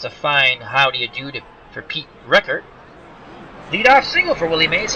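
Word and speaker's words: Richert: They've gone to Pete Reichert, I believe, is the way you pronounce his last name, I think. R-I-C-H-E-R-T, Reichert.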